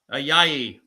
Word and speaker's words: Ayayi: Ayayi to Copper.